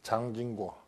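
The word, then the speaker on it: 蔣經國: 있습니다 타이완의 총통을 지냈던 장진고 중국말로는 장진거고 우리 식으로 발음하면 장경국입니다 장개석의 아들인데 총통으로 있을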